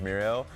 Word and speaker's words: Miro: is really important now Miro for a while we've called him miru so that's now like we've gotten word that that's the proper way of pronouncing his name is muo um he is a